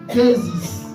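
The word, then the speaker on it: δέησις: Il y a le terme déisis. Déisis. Donc c'est en grec, c'est pas c'est pas en anglais. Si c'était en anglais, je devais dire déisis, mais là c'est en grec déisis.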